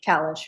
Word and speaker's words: Kallish: All right, I want to make sure I'm pronouncing your name correctly. Kalish or Kalish? Kalish, Your Kalish, I got it right.